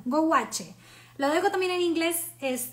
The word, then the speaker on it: gouache: Lo voy a pronunciar así como bien latina. Gouache.